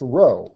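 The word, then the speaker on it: rho: p which is actually pronounced row as in row row row your boat now the formula for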